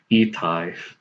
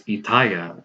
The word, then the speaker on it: Itai: and his name is Itai, and my parents pronounce his name as Itaya, and I'm like, how do you get Itaya out of Itai?